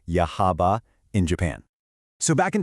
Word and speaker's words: Yahaba: Let's take a look at a real-world case study, the town of Yahaba, that's pronounced Yahaba, in Japan.